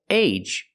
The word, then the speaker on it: age: syllable word it's easy it's always age for example age or page and cage use the long a like say and day with a J at the end like juice and jump age age page cage